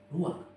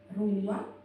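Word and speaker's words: רוח: kehadiran Allah secara pribadi kata dalam bahasa ibraninya adalah ruang ruang ya benar tenggorokan kita harus benar-benar bersih di akhir pengucapan jadi apa itu ruang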